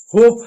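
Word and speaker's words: hope: नीचे देखिए होप है। तो आप इसको होप पढ़ रहे हैं। ई साइलेंट है।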